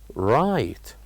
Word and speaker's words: right: and we said that the word right has uh two uh uh two silent letters so repeat it with me right right what do you think those silent letters are of course they are G and H these are the silent letters in the word right and now we